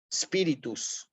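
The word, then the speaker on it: spiritus: realidad no estaría bien porque la palabra propiamente no comienza con la e si no comienza con la s Entonces tenemos para un mejor latín para un latín más fiel tenemos que hacer un pequeño esfuerzo aquí por decir espíritus sí espíritus Sí una pequeña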